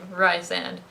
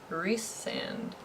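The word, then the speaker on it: Rhysand: is the other guy and i have been pronouncing his name ryzen the whole time and then just now it occurred to me that everyone else calls him rhys sand and i was like why is that and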